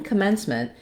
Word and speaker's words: commencement: in this first syllable this syllable is not stressed and it's going to have a reduced vowel so it's not going to sound like o or a it's actually going to sound like a it's a vowel schw C commencement the stress in this syll is on the men's syllable and there we have our clear vowel e like in the word men or red um and the letters